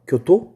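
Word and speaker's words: 京都: 얘를 일본어로 읽으면 교토 이렇게 읽어요. D는 나라, 그 사슴 얘기했던 도다이지가 했던 그 나라. 그리고 E가 오사카입니다. 이 오사카, 교토, 나라가 되게 한국인들이 많이 가는 이 여행 코스예요.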